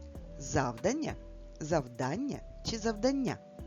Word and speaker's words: завдання: Завдання чи завдання? Прочитай слово, правильно поставивши наголос. Завдання. Промовляти це слово треба саме так. Завдання. Наголос падає на звук А.